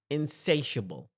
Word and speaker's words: insatiable: accepting anything possibility inable the pro pronunciation of the word is insatiable insatiable I want you